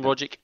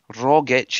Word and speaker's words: Rogic: You say the hard G. Rogic. It's not Rogic that everybody else says.